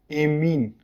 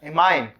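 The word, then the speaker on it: ammine: इसको बोला जाता है एमीन, और एमीन की स्पेलिंग भी चेक करना, AMMIN होता है, एमाइन ये होता है।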